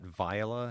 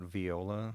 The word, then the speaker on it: Viola: then obviously via they she pronounces that viola not viola which is I thought that was kind of weird but viola dot AI